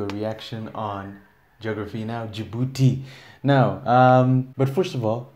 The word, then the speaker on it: Djibouti: It's not Djibouti. There's no way the locals would pronounce it in such an American way.